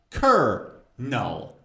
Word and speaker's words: colonel: Actually, it's colonel. Colonel. There's no R.